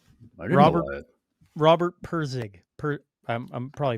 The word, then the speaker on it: Pirsig: Robert Pirsig. I'm probably pronouncing that wrong.